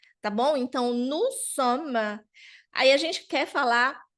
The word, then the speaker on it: sommes: Então vai ficar nous sommes, porque o S também é mudo.